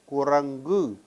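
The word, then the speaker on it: குரங்கு: After a nasal, this ka assumes a different sound as we saw earlier. So, this will be ku, ra, ing, gu, kurangu, meaning a monkey.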